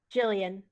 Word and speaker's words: Jillian: tangled uh around uh is it gillian or jillian jillian jillian okay um let's see uh